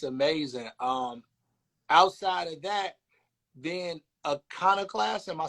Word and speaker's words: Iconoclast: Outside of that, then Iconoclast, am I saying it right? Iconoclast, yes.